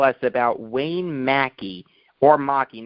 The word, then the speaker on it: Maki: about wayne mackey or maki not sure how he pronounced that nearly killing ted green yes it's actually pronounced mackie um i was right